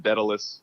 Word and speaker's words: Daedalus: it just died dallas i always say die dallas people said daedalus yes yes and i think that's that's what keith how he pronounces it but you know it's